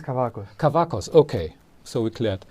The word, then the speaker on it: Kavakos: Is it Kavakos or Kavakos? I have no idea. It is Kavakos.